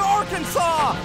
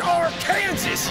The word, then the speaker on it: Arkansas: Send them back to Arkansas! It's pronounced Arkansas, you idiot!